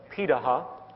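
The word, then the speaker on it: Pirahã: the world such as the pitaha which is how it's pronunciated out of brazil amazingly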